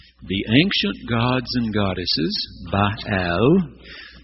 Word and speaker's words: Baal: ancient gods and goddesses bahal you were probably taught Baal when you were a child but Scholars now know it was a two- syllable word bahal and his consort his